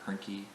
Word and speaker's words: Hoernke: As always, I'm Hoernke. Rhymes with turnkey.